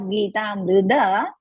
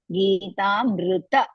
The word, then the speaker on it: गीतामृत: ज्ञानमुद्राय कृष्णाय गीतामृतदुहे नमः ज्ञानमुद्राय कृष्णाय गीतामृतदुहे नमः Here, Bhagini, instead of Geetamruda, Geetamruta, tha, pronounce the first tha, na. So, first tha.